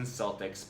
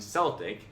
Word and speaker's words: Celtic: It turns out we've all been calling the Boston Celtics by the wrong name. Incorrect. Celtic. Correct.